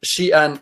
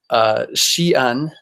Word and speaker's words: Xi'an: But strangely enough, Xi'an is the same exact pronunciation of the city Zion.